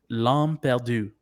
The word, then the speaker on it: L'Âme Perdue: So I did take 4 years of French to help me kind of pronounce it right. The title is called L'Âme Perdue, which means the lost soul, which we're assuming it's Daryl.